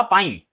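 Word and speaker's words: pine: जैसे इनको पता था पाइन। है ना? तो सही प्रोनाउंसिएशन करा तो उसको ये सही लिख भी पाएंगे। इसको पाई नहीं पढ़ पढ़ेंगे।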